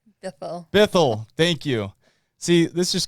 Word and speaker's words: Bithell: because i'm terrible with names how do i pronounce the last name bethel thank you see this just goes to show